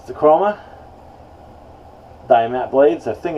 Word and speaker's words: Diamant: Croma blades now um I believe is pronounced chroma dime at there they are right